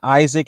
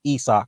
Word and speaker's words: Usyk: It's not Isaac as it's spelled out to be. It's pronounced Usyk, for what I was told.